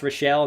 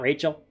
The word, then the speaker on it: Rochelle: Pronounce Rochelle, not Rachel.